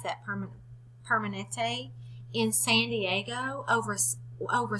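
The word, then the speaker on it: Kaiser Permanente: into the clinic at the Kaiser thank you pronounce that permanent Permanente in San Diego over over 17,000 were asked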